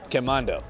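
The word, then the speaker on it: Quemado: We're in a town called Quezmodo. Is it called Quezmodo? Is that how you pronounce it? Quemando.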